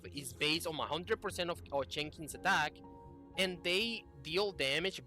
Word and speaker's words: Chenxing: Um, I'm just going to be calling her as I believe that it is pronounced, that it's going to be like Chenxing.